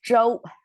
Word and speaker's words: 绸: So this 绸 pronounced as 周.